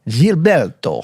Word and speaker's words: Gilberto: pronounce it right jilberto is it jilberto or Gilberto jilberto so is it GS or jets it's definitely gets St get so gets with a G but jilberto with a G it's funny that